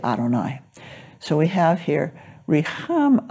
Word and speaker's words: Adonai: So I was taught to say Adonai. So whenever you see Yud Hey Vav Hey, I will say Adonai.